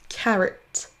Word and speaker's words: carrot: On ne dit pas carotte, mais carrot.